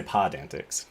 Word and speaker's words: PodAntics: that yeah so it's we're going to say pod antics i like pod yeah pod antics i'm into